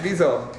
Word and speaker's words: WIZO: think that's the someone from visel is it pronounced right viso oh I feel so small dud yeah it's visel we say we say visel but actually we don't mind at all anybody